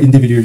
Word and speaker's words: individual: 아, individual 하고 DU가 되잖아요. 네. 그러면 주가 돼요. 밤이 주. Individual. Individual. Individual. Individual. L 발음이 안 나, 지금. 마지막에 L로 끝나야 되잖아. Individual.